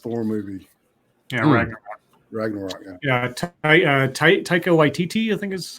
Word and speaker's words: Taika Waititi: Yeah, Taika Waititi, I think is how you say his name.